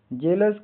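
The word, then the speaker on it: jealous: आ के ओ यू एस अस हल्की ध्वनि जेलस का अर्थ ईर्षालु जलन होना एस टी ई ए के का उच्चारण प्रोनाउंसिएशन इ का उच्चारण ए लंबी ए ए इ की तरह होता है।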